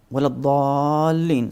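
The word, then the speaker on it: ولا الضالين: Wala dhalleen, so 4 times mad, and dhalleen basically, not dhalleen. So you keep the tongue inside your mouth.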